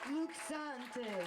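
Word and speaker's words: Luc Sante: Luke Sante. Hey, Luke. How do you say your name, anyways? Luke Sant. E is silent.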